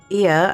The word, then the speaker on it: Ia: When the vibration of vocal folds was still required to convey our thoughts and intention, Ia, I believe, was the pronunciation used when referring to our people.